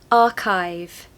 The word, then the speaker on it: archive: want a British accent don't pronounce the r because it comes after a vowel remember the rule so